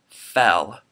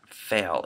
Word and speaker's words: fail: add to this list fail I have seen a couple of your videos where you pronounce it fell you like like fe ll not fail it just it sounds differently but anyway so that's